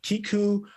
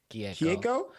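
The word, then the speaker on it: Keiko: forgive me for this mispronunciation if I am mispronouncing. It's Kiku Nobumoto. Kieko?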